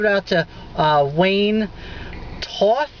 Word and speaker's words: Toth: out to uh Wayne Toth I'd like to say his name t-o-t-h that sounds like two off he did the effects